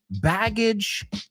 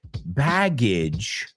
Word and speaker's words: baggage: What's the difference between suitcase, baggage, luggage? What was the difference there? Well, first let's make sure we pronounce it correctly. Baggage rhymes with bridge.